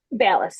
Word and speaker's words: Ballas: Ballis. Ballas.